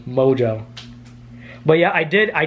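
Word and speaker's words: Mongeau: mojo jojo no it's it's pronounced mojo but it's it's spelled m-o-n-g-e-a-u mojo but yeah i did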